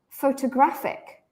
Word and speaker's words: photographic: is still not stressed however it sounds different photographic photographic in this one fo is the original sound right so it's pronounced as an O so what does this